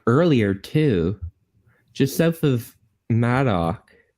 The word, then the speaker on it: Madoc: A lot of the comments are asking you to pronounce Madoc correctly. Madoc. Yes, Madoc.